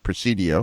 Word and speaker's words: Presidio: El Pais out of Alpine there's a Mexican pronunciation proceed yeah Presidio yeah yeah there's Alpine Fort Stockton in dis